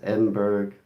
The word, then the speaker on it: Edinburg: It's pronounced Edinburg.